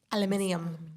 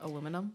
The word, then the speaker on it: aluminium: have you ever heard of people from Australia and such who say aluminium Aluminium. instead of aluminum? They put the Aluminium? emphasis on the wrong syllable.